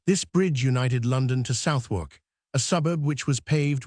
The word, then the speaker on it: Southwark: Southwark was then pronounced Soudrick. It is now pronounced Southwark, or near it.